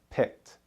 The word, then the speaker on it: picked: Picked ends with the T sound. Picked.